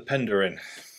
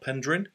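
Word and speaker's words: Penderyn: getting anywhere and then the Pender in as I'm told is pronounced not pendrin pendering um uh Welsh whiskey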